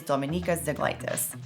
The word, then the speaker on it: Dominykas Zeglaitis: whose real name is Dominykas Zeglaitis. He's a Lithuanian American. I'm also a Lithuanian American. If you don't know how to pronounce his name, that's how you pronounce it.